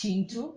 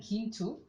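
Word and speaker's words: Kintu: she's the author of i've just learned it's pronounced chintu i've been saying quintu it's pronounced chintu and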